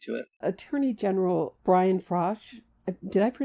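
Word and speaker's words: Frosh: Attorney General Brian Frosch, did I mispronounce his name?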